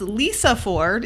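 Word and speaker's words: Lysefjord: we went to was Lisa Ford it's spelled like lice for del y se Ford or fjord however you say that um the snack that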